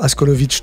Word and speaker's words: Askolovitch: Donc vous pouvez aller checker l'Instagram Théo Askolovic, tout simplement. TCH, enfin tout simplement, c'est pas si simple que ça finalement, mais TCH à la fin en tout cas. Comme ça se prononce.